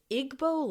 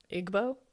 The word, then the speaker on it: Igbo: Igbo Landing. I think that's right. Maybe should we look it up? Igbo?